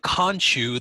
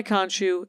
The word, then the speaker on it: Khonshu: first thing he sees is the statue of Kanchu, the moon god. Okay. Oh my God! Konshu, right? Khonshu. Okay, Khon. So, Okay. Kanchu. Okay. If we're gonna do the Stewie pronouncing Kanchu.